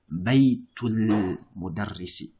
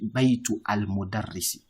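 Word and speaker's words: بيت المدرس: So for example, you say baytul mudarrisi. You don't say baytu al mudarrisi. You say what? Baytul.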